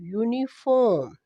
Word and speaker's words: uniform: is Dash uniform policy uniform starts with u u is a Vel but it gives you the sound of you uniform its pronunciation is in